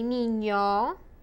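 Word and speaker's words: niño: como te llamas okay en ye is a different letter it's like an ny and yay nino okay p is like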